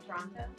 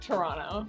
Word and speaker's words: Toronto: How does You don't really say like the last T, so it's like Toronto. Toronto.